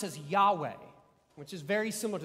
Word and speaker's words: Yahweh: no vowels in it it literally is like almost the sound of breathing yeah way like and maybe that's